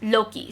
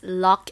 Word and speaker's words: Locke: By editing this video, this is the time to tell you that I messed up, because the actual pronunciation is Locke and not Loki, which is, I'm so sorry.